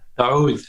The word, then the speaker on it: oud: Is it Oud? Oud, yeah. Oud. Okay, so it's a little bit longer up front.